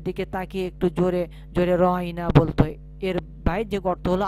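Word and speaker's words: راعنا: কিন্তু ইহুদিগণ অনেক সময় রহাইনায় উচ্চারণের আইন অক্ষরের পরে ইয়া দিয়ে মাদ্দা সহ একটু লম্বা টান দিয়ে বলতো।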